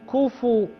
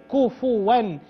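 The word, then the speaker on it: كُفُوًا: عليك ولم يكن له كفو كفوا الفاء مضمومه وليست ساكنه يخطئ كثير من الناس فيقولون كف وهذا غلط الصحيح ان تنطق كفو كفوا لانها مضمومه ان شاء الله يلا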